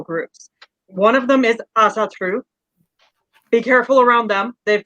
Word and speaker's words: Asatru: There is a difference between the now as I can say it right 12 times and then not say Asratu. Asatru.